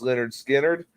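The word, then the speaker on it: Lynyrd Skynyrd: But anyway, they released their first album in 1973 called Pronounced Leonard Skinner.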